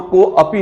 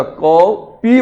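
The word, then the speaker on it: कोऽपि: जब आप रियली संस्कृत के वास्तविक उच्चारण के साथ इन श्लोकों का उच्चारण करते हो, तो वहां को अपी नहीं बोला जाता, को पी बोला जाता, को पी, को पी।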